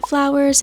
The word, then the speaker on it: FVLWRS: It is @flowers. It's spelled FVLWRS.